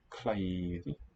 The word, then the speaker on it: klæði: Klæði, klæði. Note that in Icelandic, the written ash is pronounced I as a diphthong.